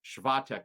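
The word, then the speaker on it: Świątek: Swiatek is the actual pronunciation if we want to get right.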